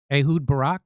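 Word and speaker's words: Ehud Barak: They are blackmailing uh uh uh the Israeli former Israeli prime minister uh Ahoud Barack.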